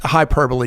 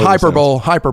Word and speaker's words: hyperbole: That was hyperbole, guys. It was, guys. Look that up. It's not. Doesn't sound the way it's spelled. It's spelled hyperbole.